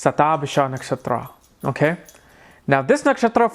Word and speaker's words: Shatabhisha: I don't even know how to pronounce that thing. It's satab bisha nakhatra.